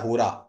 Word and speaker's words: होरा: आपको पता है इस ये वर्स नाम का जो इंग्लिश में शब्द है ये कोई शब्द ही नहीं है ये हमारा एक हिंदू सिस्टम के अंदर एक शब्द होता है होरा एच ओ आर ए होरा होरा का अंग्रेजों ने नाम बिगाड़ करर उसको वर्स कर दिया ओके और होरा से